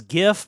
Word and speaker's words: GIF: Um, I will until my dying day pronounce it as GIF because that just makes sense to me.